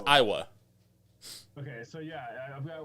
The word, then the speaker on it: Aiwa: Yeah, it's Iowa.